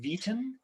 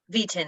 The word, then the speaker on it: Vieten: how do you say your last name v10 v10 yeah yeah you got it and you'll be